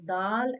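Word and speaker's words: دال: Dal pronounced from the tip of the tongue touching the gums of front teeth, two front teeth.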